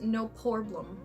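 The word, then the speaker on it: No Poreblem: And you know, I'm not sure if it's pronounced No Pore No Problem. No, it's not. I've been saying it wrong. It's No Porblum.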